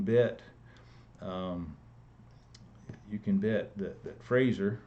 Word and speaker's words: Fraser: you can debt that Fraser rhymes with laser had considered that he